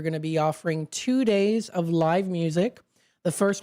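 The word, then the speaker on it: Daze: We also did discuss a little bit here too on the Abbey Farms pumpkin days. That's d a ze. So it does rhyme with maze.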